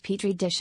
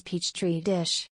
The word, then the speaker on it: petri dish: viral on monday after she mispronounced petri dish as peach tree dish the clip became popular